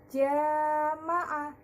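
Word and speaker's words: جَمَاعَة: Contohnya jama'ah. Nah, jama'ah. Nah, kalimat jama'ah ini, ya, dibaca 2 ketukan atau 2 alif, ya. Tidak boleh kurang dan tidak boleh lebih, ya. Cara bacanya jama'ah.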